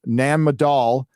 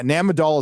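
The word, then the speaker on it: Nan Madol: with ancient Coral yeah namadol is awesome and they briefly talk about it in the special but Nam a doll's insane insane so it's spelled n-a-n-m-a-d-o-l search it a m-a-n-a-d-o-l m-a-d-o-l Nan madal ejecta sorry folks my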